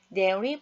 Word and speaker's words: dairy: 자 이런 종류들이 있습니다 dairy products 유 제품이라는 뜻이고요 발음 조심하겠습니다 링이 d a i ry이에요 거꾸로 DI라고 사용하면 어리가 되겠고요는 리라고 발음합니다 dairy products dairy products